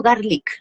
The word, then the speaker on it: Garlick: Garlic, ¿cierto? Así se pronuncia tu apellido.